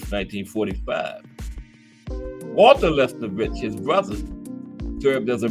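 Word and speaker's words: Lesnevich: Gus Levinovich also served. There's Gus. Okay, I said his name wrong. Gus Lesnovich.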